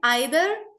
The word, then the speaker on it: either: So guys, either is British pronunciation and either is American. Both are correct depending on which English you use, whether you use British English or American English.